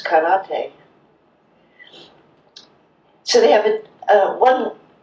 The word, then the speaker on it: karate: like it's pronounced and every syllable is pronounced the same emphasis so it's not saki that we drink it's sake it's not karate it's karate so they have a